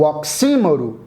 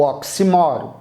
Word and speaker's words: oxímoro: A antítese, o paradoxo e o oxímoro ou oximoro. Você pode pronunciar como achar conveniente. Ambas estão corretas. Com acento oxímoro para paroxítona, sem acento paroxítona, oximoro, tanto faz.